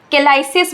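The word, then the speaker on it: calyces: बोलते हैं पता है इन टिप्स को हम केलास बोलते हैं केलास स्पेलिंग ध्यान से देखो सी ए एल वाई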